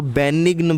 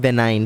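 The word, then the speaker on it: benign: कई लोग इसको बेनिग्न बोलते हैं ना, इसका एक्चुअल प्रोनाउंसिएशन है बेनाइन।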